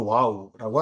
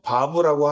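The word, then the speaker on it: וו: 그래서 바브 또는 와우라고 하는데 음가는 비읍 또는 이응이겠죠. 바부라고 하면 비읍이고 와우라고 하면 이응입니다.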